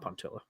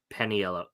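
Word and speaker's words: Paniolo: forget what this one is called, how to pronounce it, not Puntilla. Peniolo Trophy, thank you.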